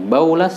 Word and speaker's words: Bawlas: Dua cara membacanya, Baulas dan Bulas.